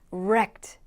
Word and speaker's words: wrecked: wrecked. 표현과 발음이 조금 어려울 수도 있는데 wrecked, 그냥 R이 아닙니다. 우가 같이 들어가서 wrecked라는 건데요.